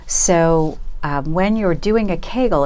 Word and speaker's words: Kegel: Thursday I've heard about kegels exercises how does that fit into the overall picture good question so Kegel rhymes with bagel that's first thing I